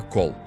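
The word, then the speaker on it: קול: A palavra é call, que se pronuncia call.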